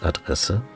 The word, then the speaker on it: Adresse: word for address, although we actually add an E and it's pronounced Adresse. But we only use one D.